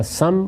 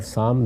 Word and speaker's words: سام: یافس دونوں تلفظ ہیں، اسی طرح سم اور سام دونوں تلفظ ہیں۔ ان کی اولاد آگے